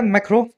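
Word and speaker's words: Macron: है मैक्रोन मतलब लिखा जाता है मैक्रोन लेकिन फ्रेंच प्रशन में आता है मैक्रो है ना इसलिए मैक्रो मैक्रो बोल रहा हूं इनको फ्रेंच जो अगर लैंग्वेज में बोला जाए तो मैक्रो इनको सही प्रोनाउंस किया जाता है कजी एज फ्रांस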